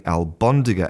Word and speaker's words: albóndiga: So, instead of being albóndiga a l b, it becomes almóndiga a l m.